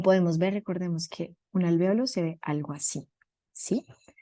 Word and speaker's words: alvéolos: en realidad pasa en todo el sistema se pronuncia alveolos listo y ya dentro de los alvéolos también